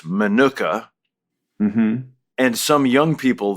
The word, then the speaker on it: Minooka: And I want my pronunciation on this right. It's Minooka, Illinois?